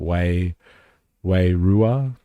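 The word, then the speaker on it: wairua: Way rua, which is the marry word for spirit.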